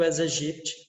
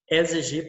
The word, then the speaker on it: Aedes aegypti: Aedes aegypti, tá? Se pronuncia Aedes aegypti, tá? Geralmente as pessoas pronunciam Aedes aegypti, mas não é o Aedes aegypti, tá? É o nome científico, tá? Escrito em latim.